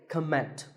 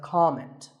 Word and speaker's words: comment: might leave a comment I have heard many speakers say comment now whether you use this word as a noun or as a verb the first syllable is always calm so it's never a comment it's a comment word number 11 is